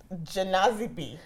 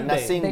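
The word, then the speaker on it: Gnassingbé: Fori Janazibi. I think it's Nasingbe. Yeah, Nasingbe. The G is silent.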